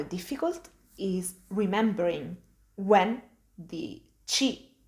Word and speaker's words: ci: want to remind you we call this letter chi when doing the spelling of a word this letter has three